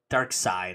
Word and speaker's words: Darkseid: Dark Side, I believe is how you're supposed to pronounce it.